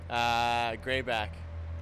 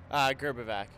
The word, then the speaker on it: Grbavac: What's the proper way to pronounce it? Grbavac. I mean, in Croatia, there's the accent and all that, but we just say Grbavac here.